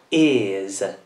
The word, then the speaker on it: is: Quindi la vocale è sempre dolce e quindi si pronuncia con una Z. Is.